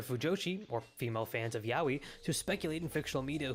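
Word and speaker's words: yaoi: But when it comes to more adult content, Yahwi is very much at the forefront of Yahwi is how you say specifically for women.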